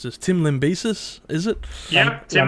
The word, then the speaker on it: Lambesis: All right, for the next one we're going to be talking about is Tim Am I going to mispronounce this? Tim Lambesis, is it? Yep, Tim Lambesis.